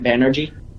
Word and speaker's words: Banerjee: And am I pronouncing that right, Banerjee? Yes, you are. Yay.